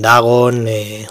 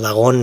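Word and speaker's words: Dagón: llamada de cazulo también dragón o dragón mejor dicho porque lleva acento en la o el horror de red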